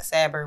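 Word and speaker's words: صبر: name was severe or in arabic set but pronounced saber which means patience so um it's just something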